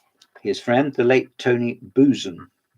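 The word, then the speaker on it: Buzan: His friend, the late Tony Boozen. There's other ways of pronouncing his surname, Buzzan or not lateral thinking that's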